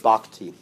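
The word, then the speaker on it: bhakti: for devotion for devotion they use the word bakti how you spell that b a h a k ti so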